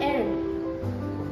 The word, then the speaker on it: Hermès: The correct pronunciations are Dior, Chanel, Louis Vuitton and Hermès.